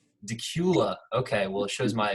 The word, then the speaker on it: Dacula: that pronounced correctly chris is it like dak Euler like Dracula the vampire everybody says that is Dacula Dacula okay well it shows